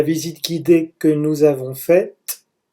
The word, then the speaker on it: faite: La visite guidée que nous avons faite, avec le E qui fait que le T se prononce, la visite guidée que nous avons faite était ennuyeuse.